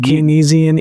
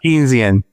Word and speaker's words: Keynesian: Is it Kinesisian economics? Keynesian.